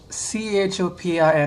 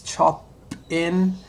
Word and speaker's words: Chopin: This lady, she was playing Chopin. I know it sounds chop-in, but it's actually pronounced Chopin or something.